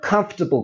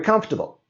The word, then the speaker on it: comfortable: I like to wear comfortable clothes when I exercise. Or today, the temperature is very comfortable. And you can see how by dropping these letters, it becomes easier to say these sentences.